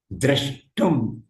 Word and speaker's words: द्रष्टुम्: ஆனா உச்சரிப்பு திரு திர.